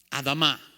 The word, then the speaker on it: Adamah: Adam comes from the word Adamah. Adamah. That's how you say it in Hebrew. Or as we would say it in English, Adama.